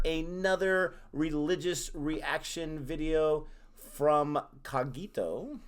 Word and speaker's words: Cogito: religious reaction video from Cogito. Pronounce it correctly this time. And I'm probably not pronouncing it correctly, but at least I'm not saying cognito or whatever I said.